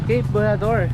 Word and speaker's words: Bojeador: po yung kasama ko ano po yung pronunciation Cape bador po okay tama tayo cape bador door lious